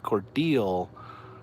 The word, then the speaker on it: Cordele: weird in Austin okay Cordele Georgia is not pronounced Cordele Georgia it's Cordele Georgia never seen a Broadway